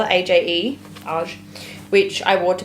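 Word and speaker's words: Aje: Aj, how do you spell it? A-J-E, Aj, which I wore to Papa's funeral.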